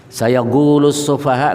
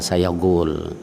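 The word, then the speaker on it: سَيَقُولُ السُّفَهَاءُ: Kalau qof jadi gaf itu enggak ada ininya dari bacaan mana pun enggak ada itu. Sayaquulus sufaha enggak, enggak ada. Ah, semua imam-imam qari tadi ya semuanya katakan sayaquulus sufaha. Jadi enggak ada sayagul.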